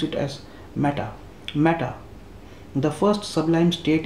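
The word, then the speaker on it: mettā: oneself and all others mata see the word is used matter people call it as matter i think it is meetha what we use in hindi mata is the correct way of pronunciation i would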